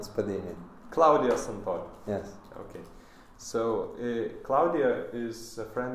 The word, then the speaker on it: Claudio Santori: Did I pronounce it correctly? But you can cut the Spadini because I'm not Spadini. Claudio Santori.